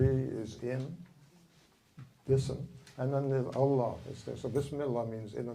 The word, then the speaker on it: Allah: this keep reoccurring reoccurring one of the things about pronouncing Allah Allah Allah is when you you PL them together the H of the previous Allah is the way you start the second one so it's Allah okay so it's Allah